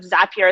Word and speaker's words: Zapier: uh thank you to i i'm glad my pronunciation of zapier is correct you just confirmed that for me